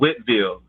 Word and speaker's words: Whiteville: and we drove to this town called Whitville, but it's spelled Whiteville.